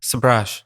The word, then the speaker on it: Sabrage: Sabrage.